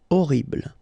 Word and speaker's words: Horrible: Horrible. Okay, first letter is H, but then we don't pronounce H, so you don't pronounce it. And the first thing you hear is O. Horrible.